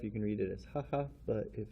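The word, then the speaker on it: 母: of course is mother we're gonna pronounce it haha and then we also can have the pronunciation bo as in sobo for grandmother stroke order style what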